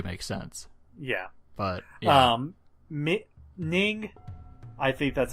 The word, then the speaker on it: Ning: Ning, I think that's how you pronounce his name.